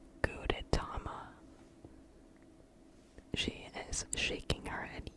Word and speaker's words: Gudetama: famous one, is called Gudetama. She is shaking her head. Yes, that is how you pronounce it. Gudetama, I think. I could also be pronouncing it incorrectly, I don't know.